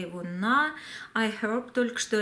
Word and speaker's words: iHerb: Тех, кто говорит о том, что произносить слово iHerb нужно без буквы H, то есть iHerb, если я буду так называть, то вы не поймете H, да, не читается.